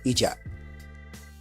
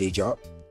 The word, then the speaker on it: Ejob: Is it Ejob? Because Westerners call it Ejob. And me and him say Ejob. Me like Cameroonian, that's how I pronounce Ejob. But when I see Westerners and white guys call it, they call it Ejob.